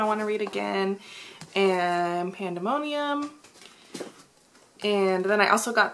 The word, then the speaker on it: Pandemonium: have read delirium and i think i read pandominium pandemonium pandemonium i could say it right i think i